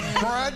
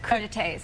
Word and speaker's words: crudités: Crudites? I'll ask crud. Anybody else? You know you wanted to say crud. Anybody? I got it. Crudités. Crudités.